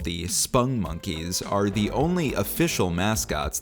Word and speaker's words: Spongmonkeys: important to note that spun monkeys are not pronounced sponge monkeys as they are often mistakenly called by folks myself included until i made this video they are called spung monkeys according to my research